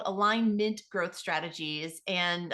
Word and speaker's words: Alignmint: the company is called align mint growth strategies and I say it that way because it's spelled align m i NT and the reason for